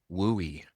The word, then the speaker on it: WUI: These best practices are focused on protecting homes and other structures in the wildland urban interface zone which has its own acronym WUI and pronounced WOOI.